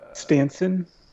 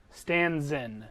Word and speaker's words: Stanzen: It's, Stanson? Stanson, the head servant. Yes. Stanzen is how it's pronounced. Sorry. Nice job, Kenny. It's like Stan and then ZYN.